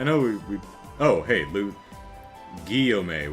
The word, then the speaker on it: Guillaume: Guillaume with a hard G. Oh, it's a double L.